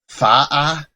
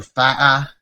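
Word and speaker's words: Faa'a: We're flying into, I think it's pronounced Fa'a or Fa'a. Not exactly sure how to pronounce that, but I do know the tick mark means you have to stop the sound before you say the next sound.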